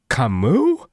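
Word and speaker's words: Camus: Someone said, "I've never heard Cameas pronounce like that." Okay. I Dude, I should just never say names out loud. To be fair, I always Google them. Oh, it's Kamu.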